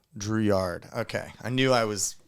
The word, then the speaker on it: Drouillard: Drouillard. Drouillard.